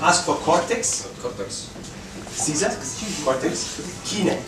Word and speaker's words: chinae: Caesar, Cortex, Kine, like China. Like China, with AE at the end.